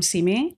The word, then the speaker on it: Simi: It's called Come See Me. Right. But it's spelled S-I-M-I for Simi Valley.